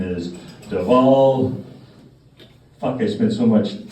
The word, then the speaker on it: Dhawal: So yes, my name is Dhawal. Dhawal. The W is pronounced as a V.